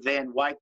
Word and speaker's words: Van Wyck: have to learn how to say it's the Van Wyck, it's the Van Wyck, it's the Van Wyck, it's not Van Wyck, it's Van Wyck.